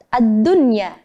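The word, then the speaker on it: الدنيا: Ad-dunya artinya dunia dalam satu makna. Maka membacanya harus jelas, harus izhar, yakni ad-dunya.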